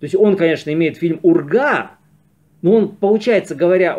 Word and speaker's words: Урга: получается говоря о михалкове он путает название его картины Югра Да хорошо звучит но во всяком случае на самом деле это полное название фильма Урга Территория любви уж полностью произносите а не Югра то есть вот это